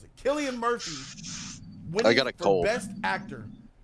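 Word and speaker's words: Cillian: all right all right all right all right kilan Murphy that's how you pronounce it Killian Murphy winning for best actor in your draws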